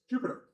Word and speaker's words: Jupyter: So Jupyer is Jupiter. That's why it's spelled all weird.